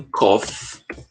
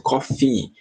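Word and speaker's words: cough: traduzir como tosse tá muita gente confunde a pronúncia acaba a pronunci desse cof como cofi como se tivesse um I só que se você falar cofi É como se você tivesse falando a palavra café em inglês que também se pronuncia Cofe então para não confundir a palavra café que é Coffee com a palavra tosse que é Cof é só você prestar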